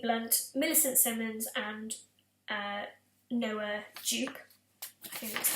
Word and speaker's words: Jupe: So obviously you're going to have Emily Blunt, Millicent Simmonds and Noah Jupe. I think that's how you pronounce his surname.